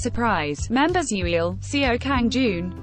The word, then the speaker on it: 5urprise: The 5urprise, pronounced surprise, members Yuil, Seo Kang